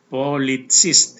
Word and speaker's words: Polizist: So, Polizist, ini cara bacanya, Polizist.